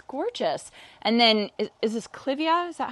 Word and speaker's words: clivia: And then, is this clivia?